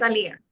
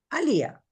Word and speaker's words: Alía: Sorprendentemente si lo dijeron bien. Sí, es Alía. Alía. Okay, Alía.